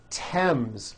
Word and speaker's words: Thames: spelled with a th they are pronounced as if they were spelled with a normal T like that and these words are Thomas Thompson Teresa Thailand Thames like the river Esther